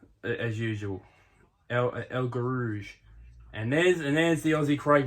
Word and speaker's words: El Guerrouj: There's Belkeli from Ethiopia, and there's so how does Bruce say his name? El Guerrouj. That's how he says it. El Guerrouj. El Guerrouj. That's how Bruce says it.